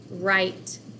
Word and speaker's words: write: And this WR at the bottom, sometimes phonics is tricky, and guess what? We have a silent letter in front of a consonant, but it still makes the same sound. So WRITE spells right. When we write a letter, you spell it WR, but it still sounds like what?